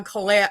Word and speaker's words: Cailleach: It's pronounced many different ways. It's a Celtic name. Okay. So actually my name's Cailleach.